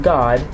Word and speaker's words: God: the Hebrew Scriptures, that God, pronounced God, G-A-W-D, that it is a name, okay?